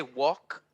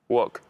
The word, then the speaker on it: walk: um can you say walk walk okay the l in walk similar to talk is silent right but that sounds